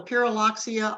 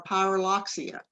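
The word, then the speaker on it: Pyrrhuloxia: birds you don't know it's called a pyraloxia or a pyroloxia either way is pronounced correctly so it's in the same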